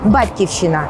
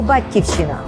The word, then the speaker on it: Батьківщина: якщо я зміню наголос А якщо я скажу Батьківщина і слово зразу стали тихеньке маленьке дуже рідне дуже добре так от рідним для мене є це слово Батьківщина моє рідне місто Дніпро